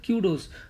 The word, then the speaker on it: kudos: क्यूडोस, इसका जो pronunciation है वो है क्यूडोस।